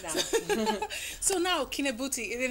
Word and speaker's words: Kinabuti: and just make it easier for others to pronounce it. And it's way easier for me. Kinabuti, it's not Katrina Bortolussi.